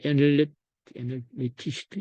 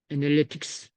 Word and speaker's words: 애널리틱스: 네이버는 통계 자료에서 그걸 좀 분석을 해주고 있고 물론 이제 이 티스토리도 구글 뭐 애널리티스트 여기 한번 보죠. 잠깐만 정확한 발음 어, 자료에다 넣어놨는데 구글 여기 있네. 요거 구글 애널리틱스 요걸 한대.